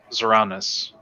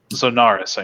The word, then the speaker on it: Zonaris: Oh, Zoranus. Let me see if I can. Zoranus. Zonaris, I mean. Sorry. Naris. I'll go ahead and put it in the chat how to spell it.